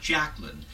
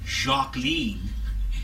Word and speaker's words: Jacqueline: first name was not jacqueline but rather it was jacqueline apple was overheard to say and it rhymes with queen but there was a